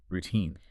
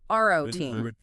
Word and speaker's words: routine: Routine. Make sure that second syllable is long and heavily stressed. Routine, not roine.